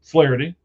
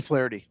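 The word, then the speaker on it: Flaherty: Well, from the Cubs, you know, you're you're a buddy, uh, Flareity or I'm sorry, I keep saying that wrong. Ryan Flity.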